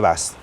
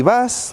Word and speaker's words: Buzz: Transporter, combi, bus, bully, pero ¿de dónde sale ID Buzz? Vale, la razón es la siguiente. ID son las iniciales que utiliza Volkswagen para sus vehículos eléctricos en la actualidad. Y Buzz es una palabra que tiene doble sentido.